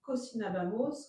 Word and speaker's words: cocinábamos: Alors attention à la prononciation. Cocinabamos. Cocinabamos. Cocinabaïs. Il n'y a pas d'accent sur le A sur celui-là. Là, il n'y a pas d'accent. Il n'y en a qu'un seul ici.